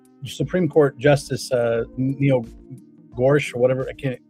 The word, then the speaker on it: Gorsuch: Um but Neil Supreme Court Justice uh Neil Gorsuch or whatever, I can't pronounce his last name. Gorsuch. Gorsuch.